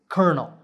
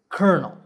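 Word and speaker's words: colonel: you say this word the right way to say it is kernel for some strange reason the c-o-l-o is pronounced cur so this word is kernel number 19 is words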